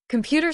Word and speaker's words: computer: Computer stress on the second syllable, computer.